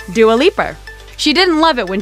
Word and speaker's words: Dua Lipa: was born with and it's pronounced do a leaper she didn't love it